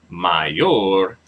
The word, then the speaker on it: mayor: um since it is since the word Mayor ends in a r which is a consonant the stress falls on the last part the last syllable yeah so may mayor